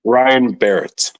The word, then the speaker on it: Ryan Barrett: Is that Barrett? Did I pronounce like Wade Barrett? Yeah, Ryan Barrett.